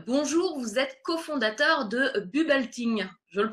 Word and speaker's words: Bubbleting: Vous êtes cofondateur de Bubelting. Je le prononce à peu près bien, ça va?